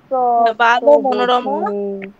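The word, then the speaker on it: বালমনোরমা: মনোরমা ভালো মনোরমা বাল মনোরমা তত্ত্ববোধি তত্ত্ববোধি উচ্চারণটা হবে বাল মনোরমা বাল মনোরমা ঠিক আছে বাল মনোরমা ওখানে একটা অকার আছে ওই অকারটা উচ্চারণ করতে হবে ঠিক আছে বাল মনোরমা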